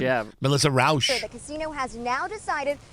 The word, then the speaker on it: Rauch: Is that how you pronounce her Rauch, name? yeah. Melissa Rauch.